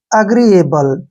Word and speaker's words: agreeable: एल ई का pronunciation हम ले करेंगे, ठीक है। इस प्रकार दोस्तों ये हो गया अग्रीएबल, ठीक है ना।